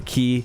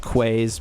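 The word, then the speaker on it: quay: the Waterfront which for those who don't know key some people call it quaz because that's kind of how it's spelled but it's a key um they're kind of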